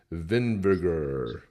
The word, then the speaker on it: Vinvigar: That is a spirit walker, and the name is Vinvigar. Sounds rhymes with vinegar.